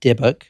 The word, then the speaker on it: dybbuk: word the deic box which is spelled dybb u k debuk that is how you say it Kevin Manis a granddaughter